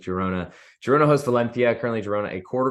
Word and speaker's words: Girona: I always forget how to pronounce the G in Spain with Girona.